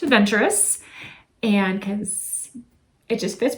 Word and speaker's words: Adventure Us: relationships so hence the new name change adventure us pronounced adventurous and because it just